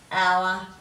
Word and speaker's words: hour: pals cards and Ireland we're also going through the silent h there's not a lot of words with the Sun and it German so we've got ghost hour and honest so let's have a